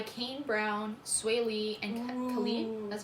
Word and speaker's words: Khalid: It's a single by Kane Brown, Sway Lee, and Khalid.